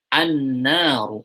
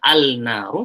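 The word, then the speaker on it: النار: An-naru, alif lam syamsiyah. Langsung ditasydid kepada huruf setelahnya, bukan pakai sukun. Jadi bacanya bukan al-naru, tapi an-naru.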